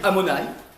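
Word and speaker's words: Adonaï: d'autres noms de Dieu adonï amonï on ne prononce pas comme ça on dit amonaï ouais très bien ensuite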